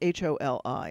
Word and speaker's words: Holi: to me and it's hol I it's but it's pronounced Holi and that's their Spring